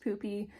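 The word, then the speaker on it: Pupi: this is a poopy it looks like puppy but it's pronounced poopy it's a wool cover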